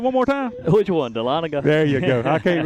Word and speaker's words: Dahlonega: Beautiful venue up there in Dahlonega, Georgia.